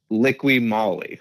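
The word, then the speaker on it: Liqui Moly: do you say it I say lick licky Molly like Li Molly yeah Li beta USA what I was told that's how they said it to me cool let's do it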